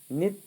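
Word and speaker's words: নিত্য: ये नित है। नितो बंग में जो है ना य का उच्चारण नहीं होगा।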